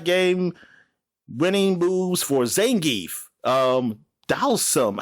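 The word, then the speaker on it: Dhalsim: Dalsum. How do you pronounce that? Dalsum? And Vega. Dalsum. Okay. Yeah. All right. So I was right. That's the way I always heard it. Dalsum.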